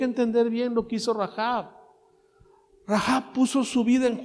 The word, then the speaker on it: Rahab: todos Asimismo también rahab rahab se pronuncia rahab se acuerdan de aquella